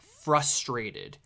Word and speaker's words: frustrated: you pronounce it frustrated it's pronounced frustrated you know there's an r in that word oh is it frustrating